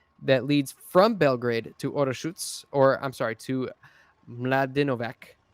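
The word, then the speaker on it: Orašac: Orasa, it's pronounced Orashutz. That's Serbian for you.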